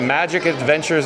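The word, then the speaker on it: Majic Adventures: And real quick, John with Fun to Be Free just wants to mention that Magic Adventures is spelled M-A-J-I-C.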